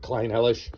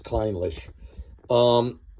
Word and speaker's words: Clynelish: I had a tendency to call it Clynelish when I first got it, but the proper pronunciation is Clynelish.